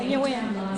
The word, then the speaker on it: Nguyen: my Asian students stop me from mispronouncing names because the whole running joke is me mispronouncing white names. So your name's, right? Yeah, Nguyen.